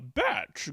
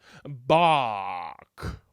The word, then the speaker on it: Bach: of all time ah batch great to see you uh my name is pronounced bach yeah whatever listen buddy